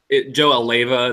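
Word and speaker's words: Alleva: A caller calls Joe Aleva. That's how you pronounce the AD's name, right?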